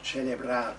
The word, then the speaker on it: celebrar: Celebrar, on the last syllable, celebrar, to celebrate love's inclito onore, famous honour, the famous honour of love.